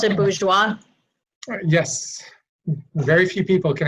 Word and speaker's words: Bourgeois: So, Do you pronounce it Bourgeois?